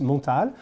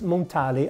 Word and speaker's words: Montale: the creator is piermontal so it is french it's pronounced montal but i don't know if in their marketing they want to to pronounce it montale i don't know but